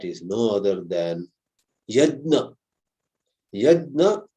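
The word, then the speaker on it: Yajna: Yedna or as some people pronounce it in the north especially yagya.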